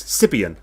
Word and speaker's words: Siobhan: You don't spell Siobhan the way you think you spell Siobhan. Not only there's a B in it, the H is in the wrong place. There's an I-O in it, and it's actually pronounced. If you've read it as it's pronounced, it's Sibian.